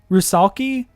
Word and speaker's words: rusalki: Wikipedia tell me a salvic folklore arushakla um pronounced rusalki is a cry like I'm sorry it is